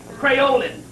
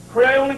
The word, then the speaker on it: Creolin: Crayolan. Crayolan cleanser.